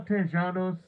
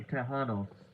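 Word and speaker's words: Tejanos: So why am I saying Tjanos? would really be uh te Yeah, it tended to be Tahanos. Yeah, we'll say it like that.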